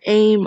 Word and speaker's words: A.I.M.: and don't know who aim are advanced idea mechanics which is abbreviated to a capital a capital i capital m pronounced as aim is a sort of